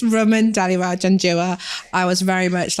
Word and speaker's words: Raman Dhaliwal-Janjua: So it's Raman Dhaliwal-Janjua.